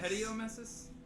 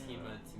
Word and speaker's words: hematemesis: Isn't it hediomesis? No, it's hematemesis.